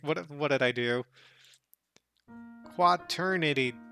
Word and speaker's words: quaternity: on sydney so uh quad eternity did i spell it wrong was it qua trinity what what did i what did i write what what did i do quaternity quat oh quack not quad gotcha i'm them generally